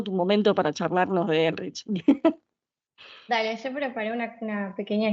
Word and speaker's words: Ehrlich: Pero si querés, estás en todo tu momento para charlarnos de Elrich. Dale, yo preparé una pequeña historia de Elrich. Creo que se pronuncia Ehrlich porque es alemán, Es alemán.